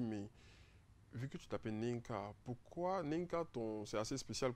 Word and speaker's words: NEINKH: Il est l'inventeur d'une application dénommée Nink. C'est quoi? J'espère que je prononce bien. Nink. Ouais, Nink.